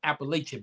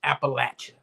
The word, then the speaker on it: Appalachia: So anyway, I grew up saying Appalachia, but most people will want to say, oh no, it's Appalachia, right?